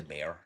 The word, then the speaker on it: Baer: We got James Baer. Is how you pronounce it, because I did look it up. Or James Baer, if it's regular. Bear. It's regular.